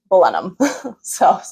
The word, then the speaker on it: Blenheim: I was pronouncing Blenheim. And then my tour guide who I was talking to, she was like, "You're German." I was like, "Well, funny enough, my family is German." But it's Blenheim.